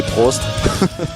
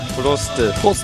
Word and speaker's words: Prost: Funny thing is that actually how the Koreans spell it, it's like the German word for cheers. It's actually Prost. Prost.